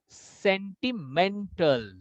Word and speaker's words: sentimental: 4, absolutely right, but the pitch will go more here now in men. Sentimental, sentimental, sentimental, sentimental, sentimental, sentimental. Men will have more high pitch.